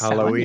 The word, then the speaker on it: Samhain: It's spelled Samhain. Halloween. It's pronounced Samhain, yeah, for Halloween.